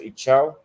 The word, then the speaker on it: Itaú: Then I found the top banks in Chile, which, for example, I believe is pronounced in Portuguese, it's pronounced Itaú.